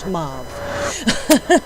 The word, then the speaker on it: Mabh: Raven Wings and today we are talking to Mau Savage. Uh and it's spelled M A BH Savage if you go to look her up on Facebook or anywhere. Um, it's just pronounced mauv.